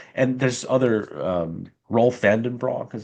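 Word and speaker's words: Roelof van den Broek: rightly frames it as like, and there's other Rolf Vandenbroek is how to pronounce his name.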